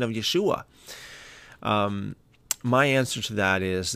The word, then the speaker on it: Yeshua: be saying Jesus and Yeshua. And I say that because most people know him as Jesus, and I think that the Hebrew pronunciation of Yeshua would probably, that would be better.